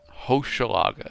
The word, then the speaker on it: Hochelaga: Hochelaga is how it's said. At least that's what that video says. Chat, am I correct on that? Or is it lying to me? Hochelaga.